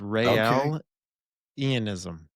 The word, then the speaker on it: Raelianism: It's like Rael. It's like Israel, but it's Rael Ianism.